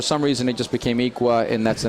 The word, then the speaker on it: Iqua: and then adding the solar utility terrific it's pronounced equa but it's spelled I qu UA and it